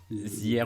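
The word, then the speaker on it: Ziaire: Ah oui, c'est le truc que ça s'écrit Zier. Zier Williams. Zaire.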